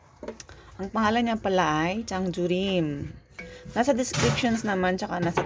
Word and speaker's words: 장조림: Ang pangalan niya pala ay Chang Jurim. Nasa descriptions naman tsaka nasa title ng aking vlog. Pero baka hindi niyo alam kung paano i-pronounce. Chang Jurim.